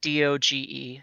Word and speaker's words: doge: no as in the meme word d-o-g-e oh i don't i don't know what we're